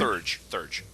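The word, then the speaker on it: Theurge: can't remember how to pronounce that. Or Thurge? Thurge.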